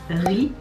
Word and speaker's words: Rie: Et aujourd'hui donc c'est le tour du membre, attention à comment je prononce, Ri, comme du riz, R-I-E, je sais pas, Ri, je sais pas.